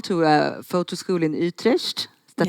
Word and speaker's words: Utrecht: And so she told me she made a phone call to a photo school in Utrecht. Is that how you say it? Utrecht. Utrecht.